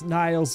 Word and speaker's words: Nile: Nile it's Nile what's Nile's voice aren't you proud that I remember that it's pronounced Nile it's Nile yes congratulations hey guys